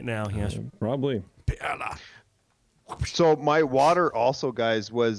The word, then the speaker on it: Perle: Actually pronounced perla in the German. I totally messed it up. Yeah. It's okay. It is the German word for pearl, so you can say pearl.